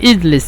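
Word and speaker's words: اجلس: শিখে নিব ইনশাল্লাহ পরে তারপর হলো ইজলিস ইজলিস মানে তুমি বসো এটা আমার বসো তো ইজলিস বলে অথবা ইগলিস বলে মিশরের বেশিরভাগ বলে ইগলিস অথবা বেশিরভাগ বলে উত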